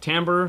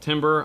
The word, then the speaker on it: timbre: people will call it timbre some people will call it timber i've heard it pronounced both ways but it's basically the